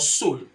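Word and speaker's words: sol: spanish let's learn sun sun in spanish is called soul soul s-o-l-e you know the soul of your feet the soul of your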